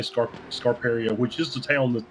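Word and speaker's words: Scarperia: will say this I'll trying to stop my pronunciations yeah yeah exactly I will say this uh you did say scar scar peria which is the town that the racetrack is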